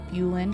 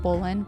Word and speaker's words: Bulin: I always say last name wrong. It's Bulin. Yeah, and I it's was Bulin. about to say Bolin.